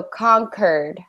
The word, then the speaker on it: conquered: you like quite quit we want to actually say it like a hard C so conquered conquered good yeah not